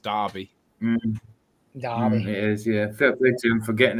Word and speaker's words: Derby: it's Derby but that is the way it's pronounced Derby Darby it is yeah feel forgetting it right especially